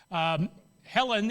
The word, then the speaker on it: Hellen: Helen is the mythical, and that's how it's pronounced, by the way.